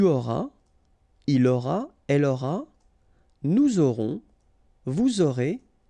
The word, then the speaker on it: nous aurons: J'aurai, tu auras, final S not pronounced, il aura, elle aura, nous aurons, final S not pronounced, and then you make